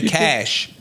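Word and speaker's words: cache: can you you can clear your cash not cach a CH H CH H pronounce differently c a c h e pronounced differently yes sir it's cashier it's cash cash when you talking about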